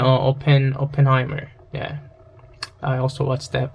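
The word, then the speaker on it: Oppenheimer: 오펜하이머 같은, like the 오펜하이머가 발음이 어떻게 되지? P인가? P 맞네요. 오펜하이머.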